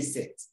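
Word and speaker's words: cette: a vowel or silent h that is the set used for masculine singular noun starting with a vowel or silent h and you say set why do you say set to have a look at it sex another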